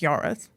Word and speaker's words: Yorwarth: And then it wasn't until mom became a teacher, she had someone say to her like, "Well, no, if it's pronounced yorith, you pronounce it yorith."